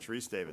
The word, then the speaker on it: Sharice Davids: Not Davis, but David. You know what? I always do that. Sharice Davids. That's I don't even know why. I know. Because it's spelled D-A-V-I-D-S, not, There you go.